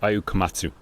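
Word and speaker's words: Ayao Komatsu: Ayu Katsuta, I can never pronounce his name right. Ayu Komatsu, there we go.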